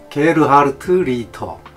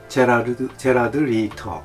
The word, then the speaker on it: Gerhard Richter: 게르하르트 리히터. 우리는 이제 영어로 발음하면은 제라드 리히터 뭐 이렇게 발음도 되는데, 독일어가 좀 세잖아요.